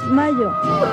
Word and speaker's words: Mallo: Les saludan Amparo e Imelda, las jilguerillas, para decirles: aquí donde canta el gallo está Laboratorios Mayo. Y Mayo se escribe como gallo. LLO Laboratorios Mayo.